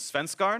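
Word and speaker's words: Svenskeren: I asked him how to pronounce his name in Danish yesterday, and the best I could understand it was Svenskarn.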